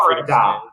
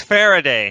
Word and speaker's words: Farida: Is it Farida? Okay. I've tried to pronounce it like Farida. No, it's Faraday.